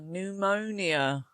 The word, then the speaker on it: pneumonia: Ah, pneumonia. Another silent P at the beginning.